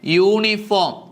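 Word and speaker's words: uniform: അതുകൊണ്ട് A universal truth അടുത്തത് നോക്കിയേ യൂണിഫോം അതും യായിലാണ് തുടങ്ങിയിരിക്കുന്നത്. അതുകൊണ്ട് നമുക്ക് എന്ത് കർത്ത പറയാം എ യൂണിഫോം അടുത്തതാണ് വൺ നൈഡ് മാൻ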